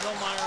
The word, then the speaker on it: Hillmeyer: I don't know if Hillmeyer will play or not. He's been injured, and I don't know if he's due back or not. But it's Hillmeyer. The R is silent.